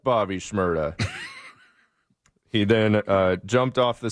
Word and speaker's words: Bobby Shmurda: That is rhymes with Shmurda. Ferda. Bobby Shmurda is correct.